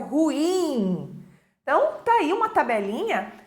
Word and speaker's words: ruim: também temos o ruim ruim palavra oxítona que é erradamente pronunciada como paroxítona e as pessoas dizem ruim é sendo que a pronúncia correta é o ruim então tem uma tabelinha